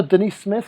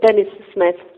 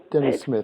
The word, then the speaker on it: Denis-Smith: but welcome Denise Smith is that how you pronounce it uh Dennis Smith Dennis Smith the English way of saying it I apologize I should